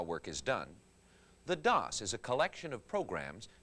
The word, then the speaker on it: DOS: disk operating system or dos pronounced like toss is like an office manager